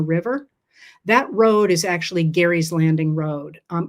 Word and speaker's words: Gerry: And the um the concept the idea of gerrymandering comes from Elbridge Gary spelled the same pronounced differently.